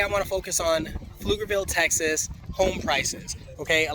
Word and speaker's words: Pflugerville: that right now okay so flukerville texas that is pf silent p lugerville yeah the reason why